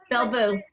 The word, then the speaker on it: Belle Vous: Belle Vous.